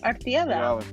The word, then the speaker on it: Artieda: Artieda. Did I say it right? Really good. No, you did good. Artieda.